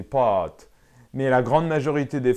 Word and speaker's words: pâtes: un râteau et cetera normalement il faut prononcer je mange des pâtes mais la grande majorité